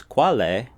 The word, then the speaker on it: qual é: Qual é? Together it's qual é. You hear the L now.